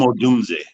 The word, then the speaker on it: Odunze: How do you pronounce his name? Dunze. I have a hard time. Sure, Rome Odunze.